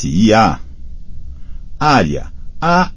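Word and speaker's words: Arya: l a g a e s i a área a r i a Blood garm BL o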